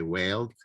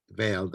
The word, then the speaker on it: veiled: Because in the past I used to say whaled, which is like whale, like the animal whale. So veiled actually, whenever I say I'm talking about the veil.